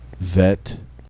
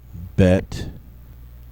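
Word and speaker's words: ב: the alipate but actually the hard pronunciation is only used when the letter has a doggish len inside of it the dot that appears in the middle of the letter so now I will pronounce the double letters first in their soft form and then in the hard form with the doish Len vet bet giml sounds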